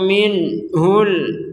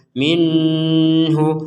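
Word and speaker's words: منه: lama yatafajaru minhul Anhar yang perlu dijelaskan di sini adalah nun sukun bertemu ha kita membacanya dengan jelas minhu minhu jelas itu apa artinya jangan samp ada dengung jangan sampai ada samar jadi enggak ada dengung dan samar sama sekali jangan sampai dibaca Minu minhu sebagaimana yang tadi ni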